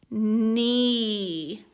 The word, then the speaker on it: knee: And I know that K-N, K is silent, and these two letters make the N sound. So this word is N-E, knee.